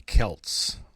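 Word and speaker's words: Celts: And the interesting thing is that we know how the Kelts pronounced their own name because they wrote their own language down phonetically using Greek letters.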